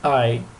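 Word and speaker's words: Ei: і у німецькій мові е і читається як ай і взагалі є навіть ціле слово яке складається з цього буквогосполучення і читається як I і означає яйце Ай оosten A це пасхальні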